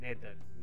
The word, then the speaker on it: nadir: the next word is nether yes it is pronounced as nether happy nether is a noun it means the